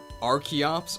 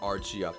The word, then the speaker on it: Archeops: Biol lizard's body slam real question archeops or Arch Ops okay Terry Davis Davis is posting the Katakana of an item Stardust the Katakana of Zio's weapon apparently it is xax but I thought it was a sword not an axe so I say archeops but I don't know